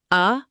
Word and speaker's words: adulterate: Adulterate, pronounced a-dul-ta-rate.